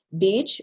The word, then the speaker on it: bija: Bij, which I'll be speaking about today, you see that the A is there, but it's often not actually pronounced bija, although some people will say it that way, means seed.